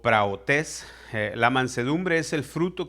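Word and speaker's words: πραΰτης: Mansedumbre, del griego 42:36, se pronuncia en griego praotes o praotes.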